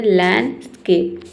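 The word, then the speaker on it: landscape: तो लैंडस्केप नहीं होता ही होता है लैंडस्केप। ठीक है? लैंड यहां पे देखिए आपको डी को हटा देना है।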